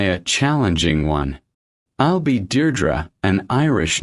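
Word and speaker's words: Deirdre: How do you pronounce your name? It's Deardra. Dear Drew, it's Irish.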